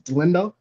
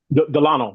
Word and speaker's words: Delano: pronouncing your name right is Dindo. Is Delano. Delano. Delano. Dano. I made the mistake early.